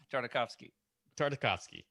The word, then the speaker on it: Tartakovsky: Tartakovsky. There you go. That's right. It's like we're going to the symphony. We're going to hear a nice Tartakovsky.